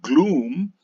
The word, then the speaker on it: gloom: example the children should know that the first word is called gloom and the second word is second word is called crook even though it has a double O and once the children